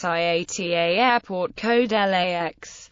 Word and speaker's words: LAX: It is most often referred to by its IATA airport code LAX, with the letters pronounced individually.